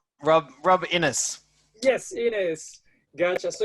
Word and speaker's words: Rob Innes: that's how you pronounce tell me if you pronounce it right or wrong rob innis yes it is gotcha so you you've been